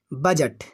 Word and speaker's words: budget: तो इसको पढ़िए जरा, डी के तुरंत पश्चात क्या आ जाए, जी। तो देखिए डी के तुरंत पश्चात क्या आ गया है, जी, यानी इस डी को अब पढ़ना नहीं है।